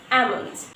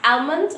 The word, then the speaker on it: almond: Because in this word almond, here this L is silent, okay? This letter is silent, so we're going to just cross this letter and just pronounce almond, not almond or almond, whatever.